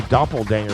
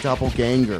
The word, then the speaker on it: doppelganger: awesome he's a a Doppel danger of D you didn't say the word right how do you say it doppelganger DPP D nope you